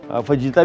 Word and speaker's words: fajita: फईता की marination, फजीता भी कहते हैं, फईता भी, ये मैक्सिकन वर्ड है, जे साइलेंट है बट कोई इससे फ़र्क नहीं पड़ता। कोई फजीता बोले तो यार देखो फजीता बोलता है, या कोई फईता बोलेगा ये गलत बोल रहा है। असल इसकी प्रोनाउंसिएशन फईता ही है बट फजीता भी चलेगा।